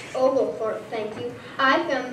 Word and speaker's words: Oglethorpe: She is correctly pronounced Oglethorpe.